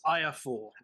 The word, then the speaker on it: IAFOR: It's pronounced IAFOR.